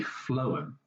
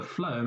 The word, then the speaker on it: phloem: left you will see what is called a phloem okay so the phloem is a funny word and you spell that with p h l o e m